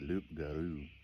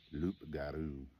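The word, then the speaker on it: loup-garou: have to forgive me the loop Guru Luke some people call it a rugaroo I think the actual French pronunciation of it something more similar to Luke garu um I know I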